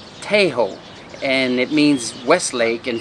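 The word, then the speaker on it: Tây Hồ: so to start with the neighborhood is not pronounced piehole but hey ho and it means Westlake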